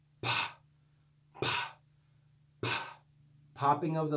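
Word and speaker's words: φ: lesson I explained that the true pronunciation of this letter is actually P. Okay? But normally, just for laziness sake, we say fi. We make it simpler for the sake of ease. But the correct pronunciation is p.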